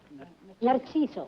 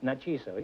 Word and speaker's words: Narciso: How do you say it? Narciso. Narciso, yes, that's pretty good.